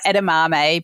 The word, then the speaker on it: edamame: the way that You' you've got edamame but you've spelled it out like ed- A- m m- a y so that if anybody